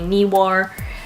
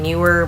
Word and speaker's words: Neewer: unboxing video of the knee war LED ring flash I think it's pronounced knee war some people saying newer but I don't think it's right knee were knee war